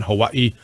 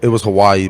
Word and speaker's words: Hawaii: So when they recruited you, how'd you pronounce it, and how do you pronounce it now? It was Hawaii back then. Hawaii, right? Okay. But it's really pronounced Hawaii. Hawaii.